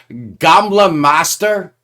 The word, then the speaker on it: Gamle Mester: second solo album uh correct me on the pronunciation Lars it's gamla Master G master come Master thank you so much